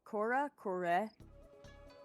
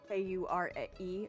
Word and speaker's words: Kure: Kura? K-U-R-E.